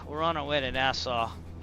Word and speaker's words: Nassau: So, all right, we're on our way to Nassau. Notice I can actually pronounce that. I had to work on that. Nassau. I used to like, should I say Nassau? Nassau.